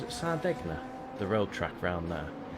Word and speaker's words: Sardegna: And then Sunday evening we have the start of season 4 of our GT7 League, where we are at, I think pronounce it Sardegna, the road track round there, in the new GR2 Audis.